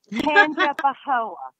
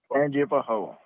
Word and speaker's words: Tangipahoa: You know, you finally learned how to pronounce it. Tangipahoa. Tangipahoa. You didn't call them Pahoas. Pahoas. Yeah, I swear to God, it was like PPP, not TTT. So I was like, Tangipahoa.